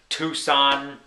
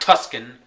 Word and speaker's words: Tucson: goes on Dallas for Tucson not Tuscan like my brother pronounces it always major cities you